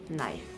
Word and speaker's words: knife: in the case like knife k and i f e k is silent and it is pronounced as knife next we have the